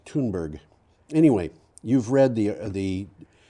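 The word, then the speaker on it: Thunberg: the year wow clement crisis activist greta thunderberg tuneburg actually if you hear her pronounce it it it sounds like it's very strange toonberry yeah yeah well it's like you know brattleboro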